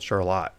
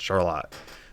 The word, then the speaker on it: Charlotte: Where I grew up in southern Michigan, there's a town called Charlotte. It's spelled the same, called Charlotte. This is called Charlotte. Michigan accent, Charlotte.